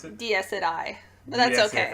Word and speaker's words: Dies Irae: Dies Irae. But that's okay. Irae? It's kind of like Jiraiya.